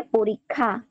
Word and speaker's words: পরীক্ষা: তাহলে পরীক্ষা, পরি যোগ দীর্ঘই অসমালিক্য আকার থেকে এটার উচ্চারণ দীর্ঘইকার উচ্চারণ হবে, দীর্ঘইকার উচ্চারণ হবে। পরি ইক্ষা থেকে পরীক্ষা, পরীক্ষা।